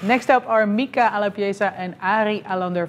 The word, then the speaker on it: Mika: i hope i got it right in the pronunciation welcome gentlemen thank you very much how do i say your name mika i love yeah just correct perfect okay so